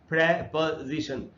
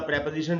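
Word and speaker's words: preposition: और जो next word है वो है प्रपजीिशन। इसको ये वही ग्रामर वाला प्रपोजिशन है जिसको हम लोग प्रीपजीिशन पढ़ते हैं। प्रीपजीिशन गलत उच्चारण है। हमको प्रेपजीशन बोलना चाहिए।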